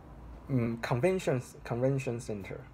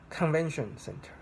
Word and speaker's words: convention center: So convention is noun, center is another noun. So how you should say this, how you should stress this word? Convention center, convention center. So you should stress on the first word.